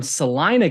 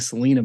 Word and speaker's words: Salina: He is a foreman from Salina, Kansas, which I'm learning the pronunciation correctly now. I was saying Salina before, so thank you, Kodie, for helping us out, and thank you for joining us today.